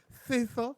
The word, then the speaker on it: Cecil: I said, now, how do you say that again? He said, Cecil.